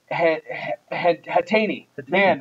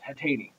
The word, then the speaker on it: Hatan: John Peters from Adam hatan we go I said it it's spelled in a way that you would pronounce something very bad but it's hatan Adam hatan Adam hatan